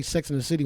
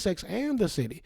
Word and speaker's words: Sex and the City: this wow cause like just like hearing people say sex in the city once i finally said i'm on tv like oh it's sex and the city and i always notice i was saying it wrong because i was listening